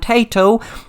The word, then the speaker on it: Taito: In the 1960s then, companies such as Sega, Nintendo and Taito, that's not Taito into crisps in Ireland, it's spelled Taito, and they began to produce electro-mechanical games for arcades.